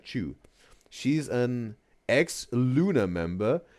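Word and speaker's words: Chuu: candles with her nose is Chu, pronounced like chewing, right? Chew.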